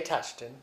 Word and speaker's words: Tutchton: So, first of all, tell me your name and spell it and what your official title is. Okay. Uh uh Touchton.